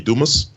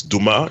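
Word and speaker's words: Dumas: like John Lee dumus I don't know why he pronounces his name that way it's Duma in French I think which it will originally from but but anyway he's American fully now so he pronounces dumus and um I just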